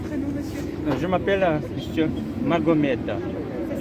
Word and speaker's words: Magomed: Je m'appelle monsieur Magomed. Ça s'écrit comment?